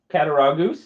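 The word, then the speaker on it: Cattaraugus: Cataragoose. That's how you pronounce it.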